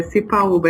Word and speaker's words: Sipaúba: Agora o teu sobrenome você vai ter que me ajudar para ver se eu tô pronunciando direito. É Cipaúba? Isso? Isso, exatamente. É Cipaúba, é de uma origem indígena, é diferente mesmo.